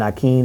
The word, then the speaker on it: Naquin: because uh mary jane naquin yes as it's pronounced in texas and nakeen out in louisiana indiana there you go